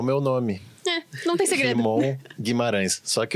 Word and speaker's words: Rimon: Rimon é com I, né? R-I-M-O-N, normal. Se fala também como se escreve. Não é Raimon ou qualquer coisa parecida. É tipo um Ramon com I.